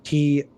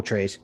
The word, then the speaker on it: Trace: it and we're gonna spell it t-r-a-c-e like normal trace but then we would know it as trace as in spanish for three so i like it